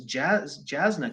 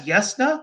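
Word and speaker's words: Jasnah: TV tropes talking about this Jasna character everywhere? And then that's Yesna? That's how that's spelled?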